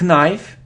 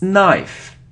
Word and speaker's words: knife: so next it isn't knife on if it's knife knife so we don't pronounce K so don't pronounce K if there is so this letter n after it's a knife knife like no no